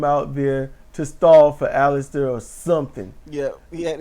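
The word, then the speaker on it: Aleister: It's Alistister.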